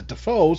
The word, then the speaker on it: Dafoe: Willem like Willem Dafoe his name is actually I believe announced Dave foe but everybody pronounced the Defoe so he's now welcome